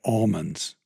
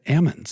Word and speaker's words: almond: How do you say it? Almonds. Oh, see everybody I thought everybody up there said Ammons. If you get north of Fresno County, they say Ammon.